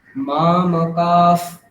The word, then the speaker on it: মামকাঃ: ওখানে বিসর্গের জায়গায় ফকার উচ্চারণ করতে হবে, হকার বললে হবে না, কারণ পরে যদি পকার বা ফকার থাকে তাহলে আগের বিসর্গটা উপধ্মানীয় হয়ে যায়। উপধ্মানীয় মানে হচ্ছে একটা ফয় হলন্ত কল্পনা করে উচ্চারণ করতে হবে। তাহলে কি হবে? মা মকাফ, এটা বলতে হবে, মা মকাফ, তারপর ফয় হলন্ত, মা মকাফ পাণ্ডবাশ্চৈব।